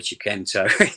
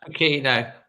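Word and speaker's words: Chiquinho: Break someone like Podence, or as you say, and I keep pronouncing his name wrong, sorry, Chiquenzo. I mean, he's Chiquino.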